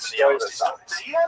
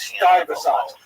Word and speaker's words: Stuyvesant: So apparently, in my ignorance, I said Stuyvesant, which is, I guess that looks like that's how you spell it. So Stuyvesant. Saying that? I don't speak American very well. And so the guy wrote on the YouTube channel, he says, Americans know it's pronounced Stuyvesant.